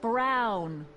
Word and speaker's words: Brown: to a tee that's Emmett Brown rhymes with clown which I'm beginning to